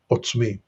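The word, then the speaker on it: עָצְמִי: a closed unaccented syllable and that's one of the keys in distinguishing it from the r sound now of course there's always exceptions like in all languages but in this case it would be pronounced otsmi uh we see another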